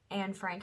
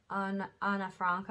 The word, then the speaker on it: Anne Frank: So the Anne Frank house, or the Anna Franca, I think is how they say it, is a huge representation of that.